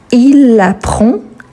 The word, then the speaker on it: apprend: aura le D donc il apprend elle apprend on apprend donc le D on ne le prononce pas mais on l'écrit le S c'est la